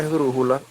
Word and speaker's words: esdrújula: La misma palabra esdrújula es esdrújula, lleva acento en la U, que es la antepenúltima sílaba.